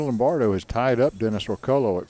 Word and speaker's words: Orcollo: Tagalog, it's Orcollo. Coyo. Coyo. At least that's the way they pronounce.